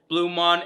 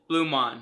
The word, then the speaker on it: BluMaan: me in this video going back and forth between pronouncing it bluemon and blue man my apologies it took me a really long time to figure out how to properly pronounce it but it is blumon but before we get